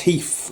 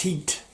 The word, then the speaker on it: Heath: sly pronounced him russ heath i just remember every time he says russ you always drops the hatch at the end and it always sticks in my head russ heat this is quite cool because